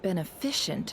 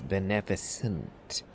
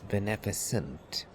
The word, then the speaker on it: beneficent: The correct pronunciation of that word is beneficent, not shin, not Yeah, you don't pronounce that as efficient. It's beneficent.